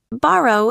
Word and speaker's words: borrow: Borrow is stressed on the first syllable.